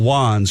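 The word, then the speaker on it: Wanz: W-A-N-Z, Wands. Yeah, but it pronounced Wands.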